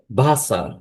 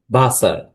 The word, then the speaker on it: Wasser: হচ্ছে এই অ্যালফাবেটের নেম হচ্ছে ভে এবং এটার উচ্চারণ হবে ভয়ের মত। একটি সেন্টেন্স দিয়ে যদি আমি উদাহরণ দিই যেমন স্ট্রিংকে ভাসার স্ট্রিংকে ভাসার।